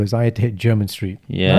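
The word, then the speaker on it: Jermyn Street: hit german street yeah this is a very interesting name so it's about like jeremy mayan so it's like jeremy with nyn in the end the first time i pronounced this i called it jeremiah street it was corrected by his chat from barbara said nah german street you know he thought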